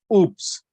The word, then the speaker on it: OOPS: called as object oriented programming system that is pronounced as oops so object oriented programming system uses oo dbms